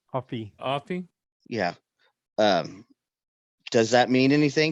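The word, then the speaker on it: Offee: Offie.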